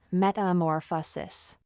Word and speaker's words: metamorphosis: it's called going through complete metamorphosis metamorphosis is pronounced like this metamorphosis H is a Greek word that means a